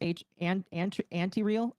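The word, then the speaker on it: Antireal: What's really kind of crazy about this, though, it's pronounced anti-real. Okay, anti-real. There we go. That's a good way of saying it.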